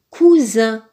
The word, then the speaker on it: cousin: Le mot suivant se lit cousin. Cousin. Dans le mot cousin, le S est placé entre un U et un I. Donc, il se prononce Z.